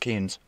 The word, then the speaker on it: Keane: is Kane and it's spelled k-e-a-n-e the only ones I know are that's pronounced Keynes I don't think he that's the only person that I know but that's spelled that way so yeah I was thinking it was pronounced Keen but that person I know